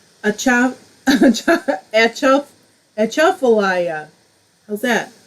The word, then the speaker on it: Atchafalaya: Accent the second syllable. Achaf Achafalaya. How's that? Achafalaya.